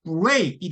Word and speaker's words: break: 왜냐면 BR 있을 때 R 자체가 지금 뒤에 E라고 하는 모음이 붙어 있으니까 이게 훨씬 커야 된단 말이에요. 그러니까 break이 되는 거죠.